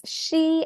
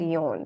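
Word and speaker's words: 四: There's she and yon.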